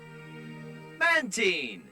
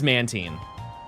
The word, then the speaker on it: Mantine: Yeah, it is Mantine. Yeah. Yeah, no, I don't like that one. I'll be honest with you. I think it's because it's supposed to rhyme with marine.